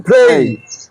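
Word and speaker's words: play: no need to প্লে এই যে প্লে না পি টা ফ উচ্চারণ হবে নো নিড টু প্লে ছবি আকার দরকার নাই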